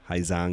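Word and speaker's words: Hà Giang: Ha Giang Loop Vietnam, I know there's a G, it's pronounced Ha Giang or Hai Yang, whatever. If you're Hai Yang, if you're in the south, Hai Giang, if you're in the north.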